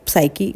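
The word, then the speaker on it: psyche: तो देखिए साइकी यहाँ पर पी साइलेंट है तो उसे साइकी प्रोनाउंस करना है।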